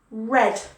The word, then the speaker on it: read: were eight drove flew red red like the color red so practice those okay